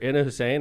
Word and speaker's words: Ina Hussein: Ina Hussein. I pronounced that right?